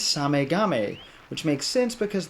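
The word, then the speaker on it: SameGame: how you pronounce it it is not same game i thought it was same game for years until i saw it written out in hiragana the main japanese alphabet and it's same game which makes sense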